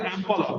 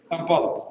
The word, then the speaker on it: ampulla: is known as the ampulla. Why is that important? Because that is the location where usually fertilization is supposed to take place. Ampulla or ampulla, pronunciations are both in use.